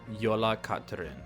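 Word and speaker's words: Jólakötturinn: pronunciation, and this is the best way that I can pronounce it. It's called the Yola Katrin. I'm sure these letters are not the same in English, but if I'm looking at these letters in like with an English brain, it's spelled Jolakotturinn. Yola Katrin. But the part that sticks out to me in the middle is kat, like it sounds like cat, and this is it's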